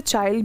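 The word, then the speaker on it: Chile: ठीक है, अब बहुत सारे लोग इसे चाइल्ड भी कहते हैं, बहुत सारे चिले भी कहते हैं। मुझे चिले प्रोनाउंस करना अच्छा लगता है, नाउ इट इज़ ऑन यू।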